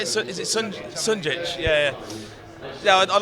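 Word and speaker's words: Šunjić: Is it Sunjic?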